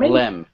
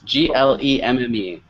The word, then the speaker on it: glemme: How do you pronounce Glem? Glem. Glem. The product. Yes, Glemme.